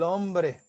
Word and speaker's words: hombre: Consoante, som, porque o H não tem som. tá? Então, como é que vai ficar a pronúncia? Vamos ter, ó, desta forma aqui. Eles, el hombre.